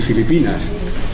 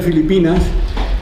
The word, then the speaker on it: Filipinas: Todavía hoy, si veis a una inmigrante filipina y escucháis, veréis que todavía no pronuncian la F, la hacen P, Filipinas, ¿no?